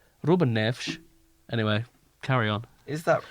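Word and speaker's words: Rúben Neves: Because they pronounce S's as SH. So it's like Bruno Alves, Ruben Neves.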